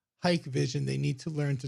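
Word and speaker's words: Hikvision: Actually, their website states it's pronounced Hike Vision.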